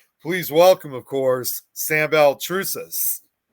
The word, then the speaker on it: Baltrusis: Please welcome, of course, Sam Beltrus.